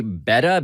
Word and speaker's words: betta: This is it's pronounced apparently betta, B-E-T-T-A, Betta. but Oh, yeah. beta.